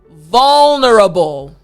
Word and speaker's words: vulnerable: after me vulnerable good that V front teeth bottom lip and then the LL sound last time vulnerable excellent now this word